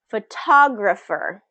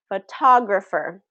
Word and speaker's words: photographer: Photographer, photographer. So look at the shape. Photographer, photographer. So the stress is on what? The second syllable, right? Photographer. Okay? Photographer. Second syllable stress there.